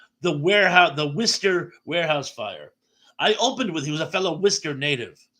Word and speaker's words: Worcester: So what do you think the Worcester native would have a connection to Worcester? And yeah, you have to say it like that, Worcester, not Worcester.